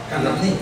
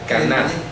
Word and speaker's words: Caná: Pero no es Cananí. No, Caná.